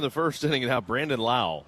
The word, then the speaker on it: Lowe: Now Brandon Lau, spelled Lowe, just like Nathaniel Lowe, pronounced Lau.